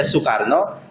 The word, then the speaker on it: Soekarno: Kenapa dulu bahasa kita itu ada orang namanya Soekarno, dibaca Soekarno, itu karena pakai bahasa Belanda. Dulu bahasa Belanda itu sampai hari ini, dulu kita pakai ejaan gaya Belanda. Belanda sampai hari ini itu masih menggunakan konsep bahwa OE itu dibaca U.